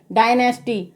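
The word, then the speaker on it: dynasty: दे रखा है तो यहां पर ए का उच्चारण क्या होगा आई होगा तो दी / एन ए एस टी ए को हम क्या पढ़ेंगे डायनेस्टी पर आपने ए जो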